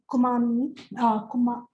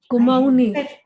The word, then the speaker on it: Kumaoni: we are not Wari, we are not Kumani, the pronunciation, from Nainital, the Kumaon tribes. Kumaoni. That's the language. Kumaoni. That's the language. It's the adjective Kumaon. that is used for the language.